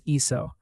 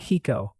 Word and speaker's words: hizo: The only one that really likes to show off is iso, not hico, iso, with a Z.